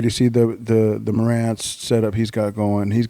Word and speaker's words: Marantz: martinez uh the mar was how do you pronounce it i'm always uh the marantz marantz yeah yeah it's waiting for the coffee